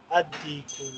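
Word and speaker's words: الديك: Ad-Diku, Lam is silent.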